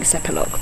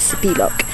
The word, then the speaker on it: Sepilok: and the sunb so we're in sepilok which is how we've just learned to pronounce it we were saying sepilok before but correct Malaysian way is Spock and we've come to